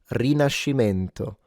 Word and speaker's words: Rinascimento: it in French, Renaissance, we gotta say it in Italian, guys. Il Rinascimento. Rinascimento. We made the word. Rinascimento.